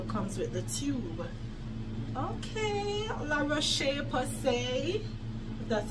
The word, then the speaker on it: La Roche-Posay: Okay, La Roche-Posay, that's how it's pronounced.